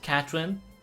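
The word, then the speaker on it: Katorin: But it's like, oh, it's spelled K-A-T-O-R-I-N. And, it's pronounced Catherine.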